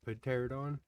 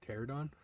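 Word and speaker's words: Pteranodon: When I was watching the video after, I realized I called it pterodon, and I'm pretty sure the P is silent, so it's probably just pterodon.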